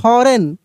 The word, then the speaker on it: foreign: FOREIGN फॉरेन, क्या पढ़ रहे हैं हम लोग यहाँ पे?